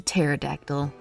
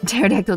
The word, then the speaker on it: pterodactyl: took that completely seriously the p is silent so pterodactyl's pronounced pterodactyl i know i know